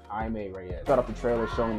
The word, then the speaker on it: Jaime Reyes: It's not Jamie Reyes. It's Jaime Reyes.